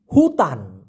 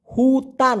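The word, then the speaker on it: hutan: এটা হলো পিঙ্গাং হুতান হুতান আমি আবার উচ্চারণ করতেছি হুতান মানে হলো বন বা জঙ্গল অপরদিকে হুতাং লাস্টে অনেস্বর এটার মানে হলো দেনা অথবা ঋণ জঙ্গলের মধ্যে বাঘ আছে আডা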